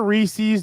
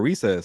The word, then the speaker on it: Reese's: First of all, is it Reese's or Recess or what is it? Reese's peanut butter cup? I don't know, but I don't know if you're saying it right. Reese's Pieces. There you go. Reese's.